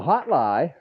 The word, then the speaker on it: HOTLIGH: So the HOTLIGH, said it right, the HOTLIGH, and that's another thing.